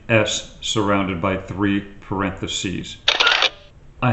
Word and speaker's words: (((S))): to cut to the chase why the name s surrounded by three parentheses I have forever pronounced it kind of like a rattlesnake how